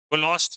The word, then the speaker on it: Kohlrausch: कोलोस्ट लॉ। Are silent होता है।